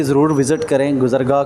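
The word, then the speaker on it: گزرگاہ: भी ज़रूर विज़िट करें, गुज़रगाह को। मैंने शुरू में इसका प्रोनाउंस जो है ना इसको अच्छे से नहीं किया था, लेकिन इसको गुज़रगाह कहते हैं, ठीक है।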